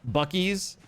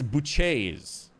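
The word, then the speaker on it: Buc-ee's: It's not Bies. It's Buch. That's what it is. It's It's Buché.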